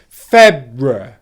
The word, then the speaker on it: February: The third syllable is what can be described as either a syllabic consonant where the R sound lasts for the length of the syllable, so you'd get February, February, February, or what's also correct is having a schwa sound in there, the unstressed before the R, so you'd get February, February, February.